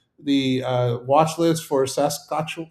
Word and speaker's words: Saskatchewan: Eddie Lee is on the uh watch list for Saskatchew, how do you pronounce that guy? Saskatchewan, whatever.